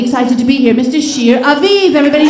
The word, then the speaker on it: Shir Aviv: and he's absolutely excited to be here Mr Shear aiv everybody Shear aiv thank you how's everyone feeling tonight excellent my